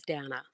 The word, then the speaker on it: Dannah: and my oldest daughter, her name is Dana, and it's actually spelled Dannah. But even though it's spelled completely how it sounds, people still can't get